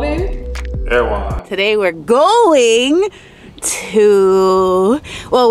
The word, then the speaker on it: Erewhon: I was actually spelling it, I was pronouncing it wrong this entire time. I was saying it's an Airway. Airway, but I finally got it right. Oh, you got it right for Erewhon.